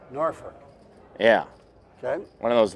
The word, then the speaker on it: Norfolk: I I helped run a TOC there one time and it's Ferk is how it's pronounced, Norfolk. Norfolk.